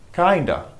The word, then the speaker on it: kinda: not the same as kind of we don't pronounce the elf not kind of kinda and it means a little bit I'm a